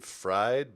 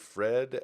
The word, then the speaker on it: FRD: I guess he's supposed to pronounce his name Fried, but it looks more like Fred.